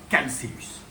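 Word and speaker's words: Chalceus: C'est le Calceus. Calceus eritrurus. Calceus parce que ça vient du grec calo qui veut dire qui veut dire cuivré. Donc voilà, par rapport aux écailles cuivrées. Donc voilà, on dit calcellus.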